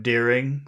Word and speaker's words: daring: Now, if we think about those vowel sounds, daring. That's er, er. Are those long sounds or short sounds? Long. Both of them are long or just one? First one of them. Okay, the first one is long and the second one is short.